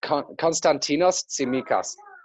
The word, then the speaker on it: Konstantinos Tsimikas: Cons, you might help me with the pronunciation of his name, Joe. You're better with these things than I am. Yeah, it's Konstantinos Tsimikas.